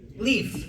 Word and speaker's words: Leif: Do you pronounce it Leif or Leif? Leif.